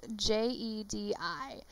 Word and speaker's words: Jedi: is how she pronounces j-e-d-i she pronounces it the jedi council she really enunciates dye and she really pronoun pronounces the first syllable like ja instead of je so but this is